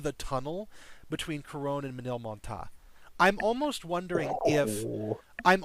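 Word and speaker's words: Ménilmontant: I actually looked up how to pronounce that one because I looked up a video on Manil Monta is how that's pronounced.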